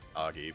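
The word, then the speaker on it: Agi: did not look we know they're weak to Ay even though I know it's supposed to be pronounced Auggie but be nice if criticals added to sabbaths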